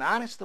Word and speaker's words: honest: An honest boy, honest. 에치가 발음되지 않습니다.